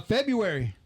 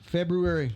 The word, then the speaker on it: February: will not then uh February extra R in there why I mean not why but not letter why but why is there another R in there Feb February somebody got to choose and that's what they is it library or Library just like February so that's like February Fe febuary so the U and the r is are Fe FIB FIB that's stupid uh or derves it's